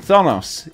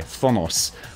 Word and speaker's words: Thanos: And Thanos, he goes full Roman Reigns. I mispronounced his name there, didn't I? Thanos.